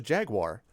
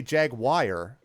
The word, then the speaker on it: Jaguar: what I'm always like I always thought it was Jaguar like just a Jaguar Jaguar I was I always said Jaguar and then there's some who say jagwire which I was like